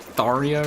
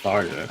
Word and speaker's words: Tharja: at all, because in game she calls herself Tharja.